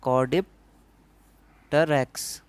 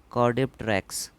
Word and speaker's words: Caudipteryx: तो यहाँ पे सेकंड में लिखा है कॉर्डिप्टेरैक्स, इसकी स्पेलिंग होगी CAUDIPTERYX, कॉर्डिप्टेरैक्स.